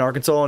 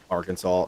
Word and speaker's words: Arkansas: I didn't know it was pronounced Arkansas. I thought it was Ar Kansas.